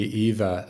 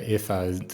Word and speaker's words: Eva: Number 3 would be Eva, or Ifa, as the German pronunciation be, who's my wife.